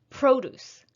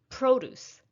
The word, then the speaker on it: produce: second syllable so again if it's a noun stress the first if it's a verb stress the second for example on the